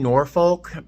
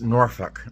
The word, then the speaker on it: Norfolk: I was saying Norfolk. Apparently it's Norfolk. That's how you say it, apparently.